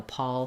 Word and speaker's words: pall: For the we mostly have A when it's with an L, except for Paul, the name, and Paul, like a pall fell over them, have the same spelling. Not the same spelling, the same pronunciation.